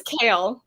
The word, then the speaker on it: Chal: Literally, It's Kale.